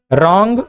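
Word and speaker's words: wrong: इसे पढ़ते हैं राइट, रॉन्ग और रिस्ट। जहां पर डब्ल्यू तीनों में क्या है? साइलेंट है।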